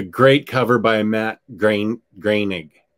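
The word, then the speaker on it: Groening: cover by matt green greenig is that how you say it i've never known how to say his name i always say groaning yeah i'm giving it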